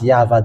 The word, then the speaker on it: Yahvah: way to read this according the uh Holy scripture of Hebrew it is uh read as yava there is no more